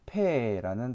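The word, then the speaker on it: פ: 패라는 단어입니다.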